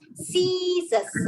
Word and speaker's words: scissors: Because the C is followed by a I, that's why the C says the soft C sound, and the word is read as scissors.